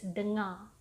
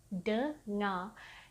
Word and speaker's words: dengar: It's as if the R is silent.